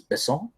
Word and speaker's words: Besson: So is it Besson or Besson? Besson would be the American way, the English way, but I think the right way is Besson. I like Luc Besson, but I think he